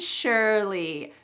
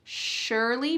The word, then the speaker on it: surely: Vocabulary phrase number 2 that I use almost every day is slowly and surely. Notice the pronunciation of the word surely. There's no SH, surely, but it sounds like that. Surely, surely.